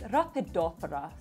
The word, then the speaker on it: Rhaphidophora: It's Rhaphidophora, so just basically muting that P to kind of give it a softer sound.